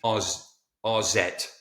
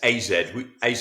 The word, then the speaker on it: AZ: very pretentious now because I do it in the Dutch pronunciation, RZ. It's AZ Alkmaar, but we have to call them RZ.